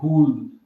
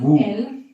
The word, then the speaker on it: would: in a way that would have made an Would, non wood. L non devi pronunciare L. Would.